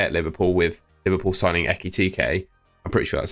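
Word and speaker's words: Ekitike: going to stay at Liverpool with Liverpool signing Ekkit TK. I'm pretty sure that's how you pronounce it.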